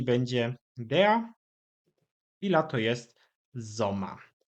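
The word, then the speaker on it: Sommer: Tak jak powiedziałem, wszystkie pory roku mają te same rodzajniki, czyli będzie dea i lato jest zoma. Znowu końcówka er wymawiana bardziej jako a i gotowe zdanie.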